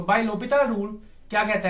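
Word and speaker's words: L'Hôpital: इस रूल को हम बोलते हैं लोपिताल रूल। अब लिखने को तो मैंने एल हॉस्पिटल लिख दिया, बट एक्चुअल में ये एक फ्रेंच वर्ड है, तो प्रोनाउंसिएशन इसकी क्या है, लोपिताल।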